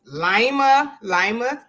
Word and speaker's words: Lima: So man, so you say you're from, how you pronounce it? Lima, Ohio.